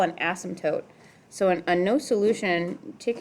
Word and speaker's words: asymptote: okay repeat after me ass M tote like a tote you're carrying right so asymptote it's the M that gets everybody okay let's try again uh 120.